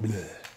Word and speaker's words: Bleu: It's not called blue, it's called bleu. Bleu de Chanel. Because it's not spelled like blue. It's not B-L-U-E. No, it's B-L-E-U. So it's bleu.